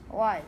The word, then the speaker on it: was: I know it says it's ways. It's not ways. Was. Was, right? Like I was going to school, I was at summer school, I was calling my friend, right?